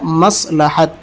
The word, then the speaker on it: مصلحت: سوال نہیں سوال ہے، اس لیے اس کو مصلحت پڑھتے ہیں۔ یہ اردو کا تلفظ غلط ہے، اردو کا صحیح تلفظ ہے مصلحت۔ تو آج آپ اس